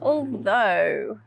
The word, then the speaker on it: although: i'm terrible at cooking did you spot the next sound oh do and although oh okay now come and